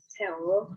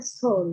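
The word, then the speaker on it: 서울: Ini memang romanisasinya EO, tapi teman-teman bacanya bukan EO. Contohnya dalam kata soul, teman-teman kalau yang belum paham Hangul pasti bacanya seo, tapi itu harusnya dibacanya soul, ya Bu.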